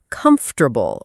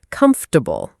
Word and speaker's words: comfortable: Many learners say every part very clearly. Comfortable. But in natural speech, many native speakers say something closer to comfortable or comfortable. So the middle changes a little.